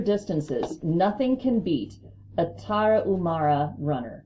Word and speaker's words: Tarahumara: The Tarahumara, pronounced Spanish style by swallowing the H, Tarahumara, may be the healthiest and most serene people on earth and the greatest runners of all time.